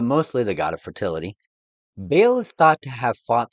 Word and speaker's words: Baal: However, because of the Israelites' name for the god, Hadad is better known as Baal or Baal, depending on the pronunciation. For us, we'll use Baal. Baal was worshipped in much of the ancient Middle East.